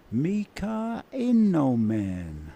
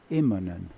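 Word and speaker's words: Immonen: he's very famous for mispronouncing M iman's name what did he say he used to introduce him as MAA inen really instead of imman he used to say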